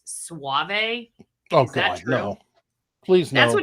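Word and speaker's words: Soave: bill told me that robbie's last name is pronounced suave okay no please that's what you said no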